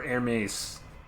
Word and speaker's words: Hermes: I was accompanied by sundry labors to which Hermes guided me. Or Hermes, depending on how you want to pronounce it.